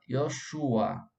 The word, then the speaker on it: Yeshua: A pronúncia correta, Yoshua.